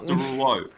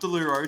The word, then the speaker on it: Derulo: Derulo. There's an O at the end. Yes, Derulo. Jason Derulo. Not Deluro. Derulo.